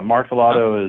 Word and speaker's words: Martellotto: So, but is it Martellotto, your last name? That's right. Yeah, Martellotto is the American pronunciation, and that works. I'm American. That's how I pronounce it.